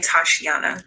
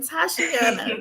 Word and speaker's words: Tashiana: And you pronounce her name Tashiana, by the way. Tashiana. You know what? That's better than what I was saying. Tashiana.